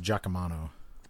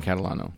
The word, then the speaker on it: Catalano: Jordan Catalano is still first in my heart, but I think it's pronounced Giacomano. No, Jordan Catalano.